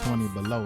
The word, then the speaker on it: 20Bello: I was battling first, and it was supposed to have been pronounced 20 below, like 20 below freezing, like cold. Yeah. But everybody started calling me Bello, so that stuck.